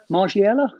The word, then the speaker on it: Margiela: boxes in of the margiela how do we pronounce that is anyone better than french than me margiela yeah yeah so we've got ten fragrances to